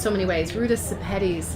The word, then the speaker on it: Ruta Sepetys: Ruta Sepetys. Lithuanian pronunciation is Ruta Sepetys.